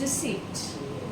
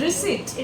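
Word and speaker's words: receipt: आर ई सी ई आई पी टी इट्स रिसीप्ट wrong I knew sheet रिसीट रिसीव he again I am right she इज़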